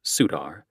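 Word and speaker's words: Surtr: Their colors include a denim sleeveless jacket with the Sutar pronounced Sudar patch on the back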